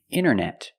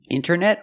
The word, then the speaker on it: internet: hear Americans say wanted you have NT in the middle the t is silent other examples internet internet or Internet International International or International